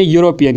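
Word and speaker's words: European: से स्टार्ट होता है, लेकिन यहाँ पर जो ई है वो साइलेंट रहता है और यहाँ से जो साउंड निकलती है वो है वाई की, यानी यूरोपियन की, तो इसीलिए यहाँ पर इस्तेमाल होगा ए यूरोपियन।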